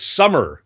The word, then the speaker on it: Sommer: a matter of fact it's summer so it's it's pronounced like su mm er it's actually the German spelling of the season Somm er but it's pronounced summer there you go okay